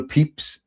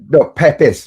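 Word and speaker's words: Pepys: I said Samuel Pep and and and I personally didn't realize right but it is spelled Pepees or looks Pepe and and out of a 4-minute video me talking utter crap someone said then you spelled Pepe you said Pep is wrong as peeps out of all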